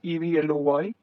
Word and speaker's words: Evloy: It is pronounced as Evloy, and it is in Delhi.